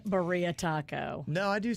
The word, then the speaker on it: birria: Oh, we're saying it wrong. That's Birria, right. Birria.